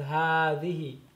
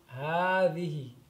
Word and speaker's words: هذه: هذه is pronounced as هذه. Okay. This is the word, but it's pronounced like this. هذه. So there's like an additional alif right there. هذه.